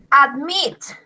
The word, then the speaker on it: admit: Admit. Admit. Se escribe A, D, M, I, T. Admit. Admit. También lleva la sílaba entonada en la última, en meet.